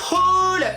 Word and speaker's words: haul: Hey, on se retrouve aujourd'hui pour Pardon, j'ai trop accentué sur le H. Pour un haul, un haul. En fait, ça s'écrit H-A-I-L. Et on le prononce haul. Faut pas oublier le H, il est pas muet.